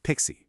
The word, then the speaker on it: PKCE: And finally, suspect five involves PKCE, which is actually pronounced pixie, believe it or not.